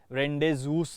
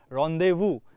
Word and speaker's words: rendezvous: ना इसका स्पेलिंग देखिए कैसे लिखा है, RENDEZVOUS, रेंडेजूस ऐसे बोल सकते हैं, लेकिन वैसा प्रोनाउंसिएशन नहीं होता। रॉन्डेवू एक फ्रेंच वर्ड है, रॉन्डेवू करके, इट्स